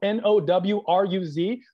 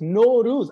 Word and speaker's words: Nowruz: know who wrote naurus because it's spelled n-o-w-r-u-z who wrote that why do we say it like we have a scottish accent now whose house you now lose it's no ruse i feel like it should be n-o-r-o-o-z that's how i would spell it but i didn't get to write it but nowruz which is the first day of spring and the first day